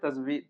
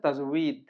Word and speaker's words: তাজবীদ: কিন্তু বাংলায় আমরা বলি তাজবিদ, তাজবিদ, তাজবিদ বলি, কিন্তু আরবি হচ্ছে তাজউীদ। তো বা এবং ওয়া যে বিপজ্জনক অক্ষরের পাশাপাশি রাখা হয়েছে, এটা হচ্ছে এই কারণ যে ওয়া আর বা একরকম উচ্চারণ হতে চাই। যাই হোক, আমরা তাজবিদই বলি, যেহেতু আমরা বাংলায় শিখেছি, আমরা তাজবিদ বলি।